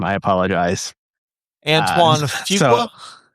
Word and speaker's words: Fuqua: Um I believe this uh I I can't pronounce the director's name. I apologize. Antoine Fuqua. Fuqua.